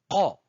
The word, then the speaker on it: ق: Commencez par prononcer le son K pour la transformer par la suite en qa, qa, qa.